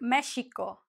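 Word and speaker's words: México: Don't forget, in the past, many years ago, the X used to be pronounced as sh. So it would be like Mexico, right?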